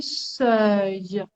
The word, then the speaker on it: seuil: minimum, on a le seuil. Attention à la prononciation, hein. mhm, Seuil, seuil, E-U-I-L-E-E, seuil.